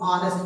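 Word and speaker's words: honest: first letter as है, लेकिन ये साइलेंट हो जाता है और यहाँ पढ़ा जाता है क्या, इसको हम लोग ऑनेस्ट पढ़ते हैं, और इस स्थिति में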